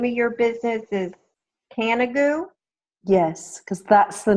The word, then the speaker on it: Canigou: So, and help me pronounce this again. The name of your business is Canigou?